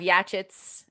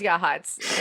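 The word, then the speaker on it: Yachats: a lot and then we have yachts out here which is yahats and yeah i mean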